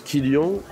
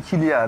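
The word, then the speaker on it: Kylian: Tu es plutôt, tu prononces Kyan ou Kyan Mbappé ? Tu tu te prends pas mal ? Non non non, je je à la base initialement je suis de la team Kilia, mais petit à petit,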